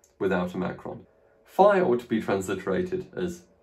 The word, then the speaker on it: phi: Phi ought to be transliterated as PH. Remember, phi should be pronounced P, but it came to be pronounced F, and it is in fact transliterated as F, PH.